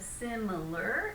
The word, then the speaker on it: similar: first syllable which means we're going to make it a little stronger a little louder and push it a bit more so we go simpler similar similar can you do it